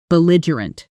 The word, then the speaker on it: belligerent: Pronunciation: B lie u rent. Belligerent sentence.